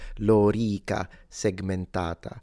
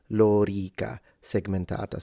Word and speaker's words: lorica segmentata: it would be pronounced lorica segmentata. So both the O and the E are long. Lorica segmentata.